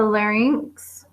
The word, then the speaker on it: larynx: we need to keep in mind about the larynx um it's not pronounced LX I I still remember an American